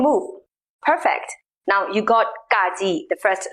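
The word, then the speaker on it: ဂ: same as an english g as in glue in burmese wool is called gong fourth letter is kaji pronounced exactly the same as the previous one ga here comes an example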